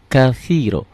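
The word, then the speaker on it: كثيرا: kabira ya kabiro walhamdulillahi katsiro walhamdu lillahi katsiro ini pakai o semua ya silakan tulis lagi pakai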